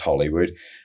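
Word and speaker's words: Holywood: It's it's it would be pronounced in as Hollywood to most people, but but over there it's pronounced Hollywood like the same as in the USA, but um I grew up a little town there.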